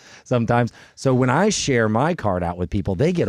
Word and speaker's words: MI card: Um, Ralph Peron, Tracy Campbell, Ralph the founder of uh, MIC card. I keep saying MI. It's my card. Sorry. My card. It's my card, not your card. Uh, but it is spelled MI card.